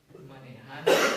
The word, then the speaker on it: manejando: It's nice and easy, you just go A and A, Manejando.